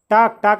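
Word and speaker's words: talked: क्या टाक, टाक, टाक, ये डी जो है वो टी की तरह बोली जाती है। इसमें जो प्रोनाउंस करते हैं उस टाइम पे ये ड नहीं बोला जाता, टे की तरह साउंड आती है।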